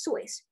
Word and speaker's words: Seuss: family pronounces it as soy rhyming with voice soice's college friend alexander